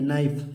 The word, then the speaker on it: knife: KNIFE नाइफ, नाइफ माने चाकू। इसमें बच्चों के साइलेंट है, सिर्फ नाइफ पढ़ेंगे, बस यहाँ से पढ़ेंगे नाइफ, नाइफ माने चाकू।